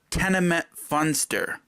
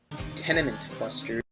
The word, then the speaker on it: Tenement Funster: and pronouncing some songs now I know most fans of Queen knows that Trek 3 is called tenement funster what did the desert on say Trek 3 was tenement buster tenement cluster I can't